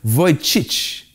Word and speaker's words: Vujicic: Il s'agit de Nick Vujicic. Okay? Je vais vous dire, son nom de famille se prononce V-U-J-I-C-I-C.